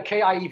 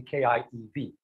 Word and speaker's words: Kiev: please right it has kia kiev is what has ended up becoming the russian pronunciation but you will see